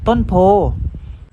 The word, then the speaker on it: โพธิ์: กาฬสินธุ์ อ่าน ว่า กาฬสินธุ์ ต้น โพธิ์ อ่าน ว่า ต้น โพธิ์ ก็ ผ่าน ไป แล้ว นะ ครับ สำหรับ คำ